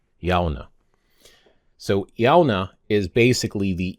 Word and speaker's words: Shamhna: Now, the October 31st, there's actually a word for that in Irish as well, and that is Shona. Shona. Shona.